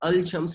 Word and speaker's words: الشمس: ہوتا ہے الشمس بلڈرز، لیکن عربی تلفظ میں جب آپ پڑھیں گے تو شمسن کو الشمس نہیں کہہ سکتے، اس کو کہیں گے الشمس، یعنی الف لام ہی لگایا ہے شروع میں، مگر وہ الف لام جب پڑھا جائے گا تو لام سائلنٹ ہو جاتی ہے اس کے اندر، تو ایک طرح سے لام نہیں پڑھی جاتی اور یہ بن جاتا ہے الشمس۔ یہ عربی تلفظ میں